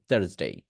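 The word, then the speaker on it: Thursday: create হচ্ছে এটা হচ্ছে থার্সডে থার্সডে বুঝতে পারছি আমি আবারও বলতেছি তা এটা হচ্ছে তা সাউন্ড ইংরেজিতে তা সাউন্ড আছে থার্সডে এইটা উচ্চারণ করতে হবে আর সবাইকে একটা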